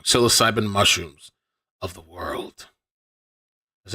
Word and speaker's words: psilocybin: psych psychoan siloc cybin I'm saying it wrong psilocybin mushrooms of the world has anybody ever tripped